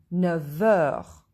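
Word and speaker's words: neuf heures: Here, when we join F to E, we listen not F, 9 heures, we listen V, 9 heures.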